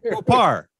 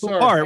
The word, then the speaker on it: Poupart: And so I just remembered it rhymes with Babar.